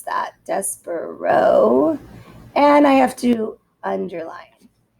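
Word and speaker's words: Despereaux: are titles of books so the tale of despero is how you pronounce that despero and i have to underline dear mr henshaw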